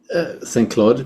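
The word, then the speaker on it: Saint-Cloud: Musica from Saint Cloud, or shall I pronounce it in English? St. Cloud, France? St. Claude, yeah.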